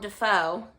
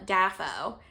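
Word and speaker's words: Dafoe: all right with William defo who I personally love I saw a video of him pronouncing his own last name or pronouncing his own name and he said his name was William dafo and it was in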